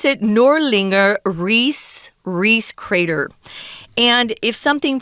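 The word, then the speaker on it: Ries: and it's a it's a huge crater they pronounce it nor linger Reese Reese crater and if something forms it comes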